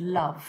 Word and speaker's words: love: And the example they gave us right at the beginning was the word love.